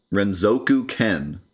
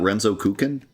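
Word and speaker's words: Renzokuken: Renzoku Ken is how you're supposed to pronounce it. You're telling me it's not Renzo Kukin? I've always pronounced it Renzo Kukin.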